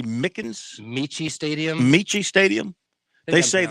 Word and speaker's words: Michie: And let's see, Army, that is that Mickens Stadium? I want to say Mickens. Michie Stadium.